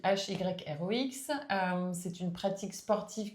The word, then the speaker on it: Hyrox: Donc l'hyrox donc ça s'écrit H Y R O X euh c'est une pratique sportive qui est en